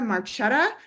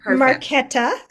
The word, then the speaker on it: Marquetta: Okay, third up is Marchetta with U4U Teen. did I pronounce that correctly? Hi, it's actually and Marquetta.